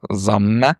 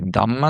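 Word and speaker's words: ضمه: По-русски еще «дамма» называют, потому что звук, которого она пишется ее название пишется на арабском, и «д», и «з» может быть прочитано. Но в татарском принято читать ее как «замна».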